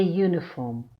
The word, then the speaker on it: uniform: Examples: a uniform. The U is pronounced fully as U.